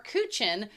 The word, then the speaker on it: Kuchen: Their names are Kuchen, again with the ch like in doc. A couple episodes ago, cake or tort layer cake. The main difference between Kuchen and tort is that Kuchen is usually baked as